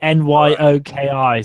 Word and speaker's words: gnocchi: Well, it's spelled gnocchi, Nyoki, so that's why.